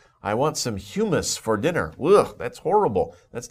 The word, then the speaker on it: humus: this word before it's humus humus the pronunciation is humus sometimes people get a little confused about that but humus think about another word that's pronounced very similarly but is a different word human but this is humus